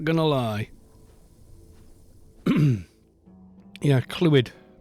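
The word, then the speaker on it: Clwed: not gonna lie yeah clue it that's how it's said yeah that's his name c l w e d it's welsh don't worry about it well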